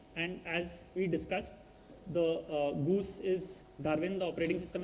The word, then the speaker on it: GOOS: Goose is pronounced as Goose, is Linux, Gorge, which is the architecture is ARM.